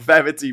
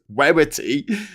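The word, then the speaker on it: Werritty: Werity with a W. I'm not pronouncing that wrong. It's not Verity, but it's Werity.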